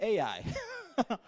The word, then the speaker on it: Ai: one of the cities it was called i we pronounce it ai and it represents the